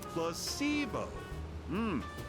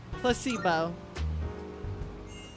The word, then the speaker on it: placebo: today repeat after me placeo the stress is on the middle syllable placeo very good you're figing interest